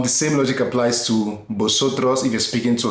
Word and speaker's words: vosotros: Now mind you, V in Spanish is pronounced like a B. So this is like vosotros.